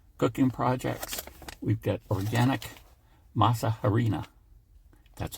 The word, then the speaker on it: masa harina: We've got organic masa harina.